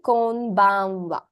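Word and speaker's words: こんばんは: It is the kana ha, isn't it? But you pronounce it as wa. I'll talk to you more about this in our first lesson, which is on Wednesday. Okay? Just remember, in these two greetings, the final ha kana is actually pronounced wa.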